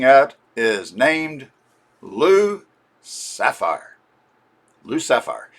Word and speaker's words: Lou Sapphire: Lou Sapphire. If you say his name real fast, Lucifer. L Sapphire. L Sapphire. It sounds kind of like Lucifer, which gives you an